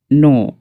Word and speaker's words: know: কে silence letter হয় যখন এন এর আগে বসে, তখন কে সাইলেন্স হয়। ফর এক্সাম্পল KNOW নো, এখানে কে সাইলেন্স।